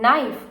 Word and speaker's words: knife: is silent similarly as the K in knife is silent so here I'm giving